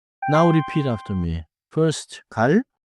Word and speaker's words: 갈: First 갈 좋아요. Little air relaxed start.